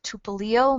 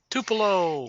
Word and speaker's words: Tupelo: in oh I'm not going to pronounce this tupo Mississippi t p l o Mississippi Tupelo is rising Tupelo thank you ly from College